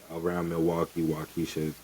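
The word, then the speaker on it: Waukesha: It's spelled W A U K E S H A. So, it's probably Yeah, Wisha. So, it's Milwaukee Wisha, Wisconsin.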